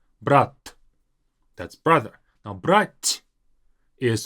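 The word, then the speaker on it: брать: Brat. Now, brat is different from brat. Brat is to take, brat is brother. The difference is in the very last t.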